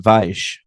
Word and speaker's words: Weisz: I'm gonna stick with Weiss, by the way. Weiss, Stone. I do think Weiss is better. Listen, I hate Vice too. That was a bad movie, but her name is pronounced Weisz, Yeah.